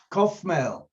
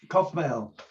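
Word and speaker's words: Kofmehl: 3rd uh is it coffee mel or how do you pronounce it cough mel cough melon okay cough mail if you want to remember that name think of cough mixture you know okay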